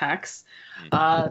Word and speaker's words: Hax: that's spelled h ax and it's pronounced ax there are now good